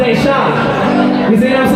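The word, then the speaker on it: Dayshine: And his name was Deshaun, and it was spelled D-A-Y-S-H-I-N-E, but it was pronounced Deshaun.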